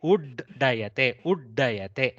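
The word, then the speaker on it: उद्दयते: So ud plus dayate, uddayate. So there is a slight halt when we pronounce the double da. It is not udayate. You cannot make udayate and make it da plus da.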